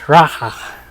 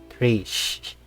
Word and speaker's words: Raha: It's pronounced Raha. Sorry, for all my who will watch this, it's pronounced Raha, not Rish.